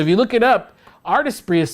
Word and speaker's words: Artesprix: type artistry oh by the way it's not artist bricks all right i should have clarified that it's spelled a-r-t-art e-s-p-s-r-i-x so it's very fancy so if you look it up artist bree is spelled and i'm sure it's already been